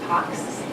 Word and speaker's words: pax: But we're going to speak to PACS, not on the X, and PACS is actually a Latin word that I think is more correctly pronounced PAX, and it means peace.